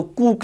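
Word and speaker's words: Koch: इनकी कंट्रीब्यूशन में रॉबर्ट कूक, अच्छा अगर हम एक्चुअल प्रोनाउंसिएशन की बात करें तो कूक लफ्ज़ है, कूक, जबकि कुछ लोग इसको रॉबर्ट कूश भी कहते हैं।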